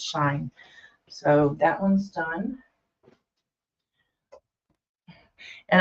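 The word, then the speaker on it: Shein: buy shine very often It's s s h i n I'm told it's called pronounced shine um you can get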